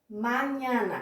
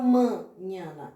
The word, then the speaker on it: mañana: Mañana, quer dizer amanhã. Eu não falo manhana, eu falo mañana, tá?